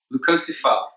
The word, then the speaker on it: Leucocephala: Leucocephala, that's how I say it. Other people pronounce it differently.